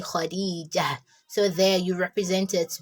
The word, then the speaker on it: Khadijah: Like when you want to stop, you pronounce it as ha. For example, when you have Khadijah, Khadijah, what actually ends the word Khadijah or the name Khadijah is ta marbuta.